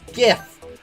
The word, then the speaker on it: GIF: that's almost always how I pronounce it I understand the thing like oh it's GIF um but I don't